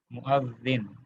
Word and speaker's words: مؤذن: پر حمزہ ہے، حمزہ کے اوپر فتحہ ہے، مؤذن، ٹھیک ہے. مؤذنو تھا لیکن یہ مضاف الیہ بنا ہے، تو لہٰذا کیا ہو گیا یہ مؤذنی.